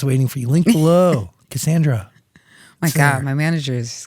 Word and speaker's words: Cassandra: My actual legal government name is Cassandra. You know what I'm saying? It's pronounced Cassandra, not Cassandra.